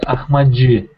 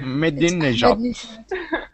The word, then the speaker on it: Ahmadinejad: I suppose that Iranian president's name is pronounced like Ahmadji. No, it's not like that. Okay. Ahmadinejad.